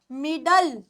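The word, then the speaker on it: middle: तो क्या बन गया मिडल क्या बना ये बना मिडल जब भी एल ई होता है तो एल ई की साउंड होती है ल की क्लियर हुआ दिस वर्ड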